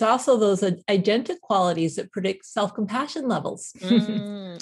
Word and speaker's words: agentic: But the other side of that is, you say here, you said, however, it's actually agentic, I guess is how you pronounce it.